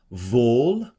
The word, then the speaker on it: wohl: Wohl wohl, that's that V for the W again, denen, die in deinem Hause wohnen, die loben dich immer da.